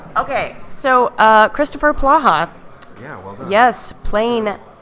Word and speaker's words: Polaha: And you said it right, Polaha.